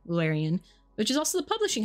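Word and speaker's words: Llewellyn: Lularian is Welsh, but that's how you pronounce it. It's Lularian, Lularian, which is also the publishing house name.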